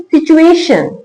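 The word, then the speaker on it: situation: जब टी यू एक साथ हो तो उसका उच्चारण संयुक्त वर्ण के रूप में करते हैं। तो कैसे पढ़ेंगे? उ के साथ पढ़ेंगे च को। एस आई टी यू ए टी आई ओ एन।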